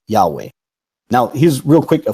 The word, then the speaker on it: Yahweh: of pronouncing it and they were pronouncing it Yahweh now here's real quick